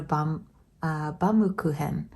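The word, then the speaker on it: Baumkuchen: It is a German word, so if you want to pronounce it the German way, I believe it's Baum-kuchen.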